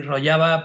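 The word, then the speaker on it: Rojava: por el nombre de rollaba No rojaba sí rojaba escrito y rollaba pronunciado porque yo evidentemente y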